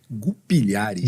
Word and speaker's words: Gulpilhares: Como é que se pronuncia o seu nome? Gupilhares. Gupilhares.